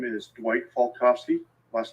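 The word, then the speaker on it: Falkofske: for the court report my name is Dwight falkovsky last name is spelled f-a-l-k-o-f-s-k-e Mr falkovsky who do you work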